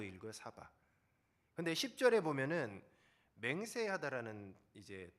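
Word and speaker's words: שָׂבַע: 근데 이 배불리가 히브리어로 사바라고 읽어요. 사바.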